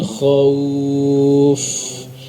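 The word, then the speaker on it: خوف: Min khawuf. Tapi harus mencucu. Min khawuf. Sehingga suara wawunya jelas dan dalam keadaan lunak.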